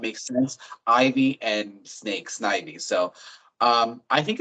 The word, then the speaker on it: Snivy: Um, believe me, uh, the way the Pokemon names are pronounced is a big point of contention around the Pokemon community. So, say it however you say it, but um, from the anime and everything like that would be Snivy.